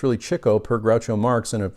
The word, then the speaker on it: Chico: Chico as I found out that's the correct pronunciation of Chico I was used to saying Chico but it's really Chico per Groucho Marx in a a number of